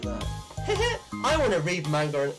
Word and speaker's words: manga: like manga manga sorry manga hey why'd you say it like that i want to read manga it's manga not manga but um i'm guessing